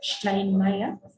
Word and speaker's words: Steinmeier: This S, we shall see probably in our next lesson, that is when we shall learn the alphabet. We shall see why we pronounce this as a she sound.